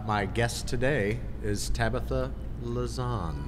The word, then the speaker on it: Lauzon: guest today is Tabitha lazon you got it which is lovely I love I love saying your last name now that I know how to pronounce it it does lazan what is it what where is that from French it's French very nice I like